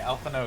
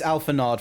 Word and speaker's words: Alphinaud: Yeah, I was gonna say, Alphinaud is pronounced, like, Frenchly. It's Alphinaud for me. I see the D. It's Alphinaud.